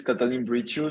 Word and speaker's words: Catalin Briciu: me first of all uh the name is Catalin bridgeu so it's pretty spot on so you did an awesome job with pronouncing it um so a little bit about